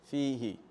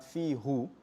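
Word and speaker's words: فيه: Fihi. Now why you say fihi and not fihu for easy pronunciation, right?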